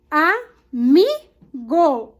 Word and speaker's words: amigo: Amigo. O mi é a sílaba tônica.